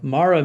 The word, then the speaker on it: Mara: So, Mara means bitter here. And uh Naomi says to call her Mara, but it's m a r a, no h on it.